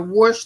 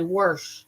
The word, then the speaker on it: wash: r in wash oh you see people say wash I'm gonna wash the clothes I've never said that I always say wash but some people say worh worh the clothes that's older people have said that back in the past yeah cuz we have